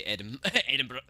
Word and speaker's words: Edinburgh: No, you don't say it as Berg, mate. You don't say Edinburgh.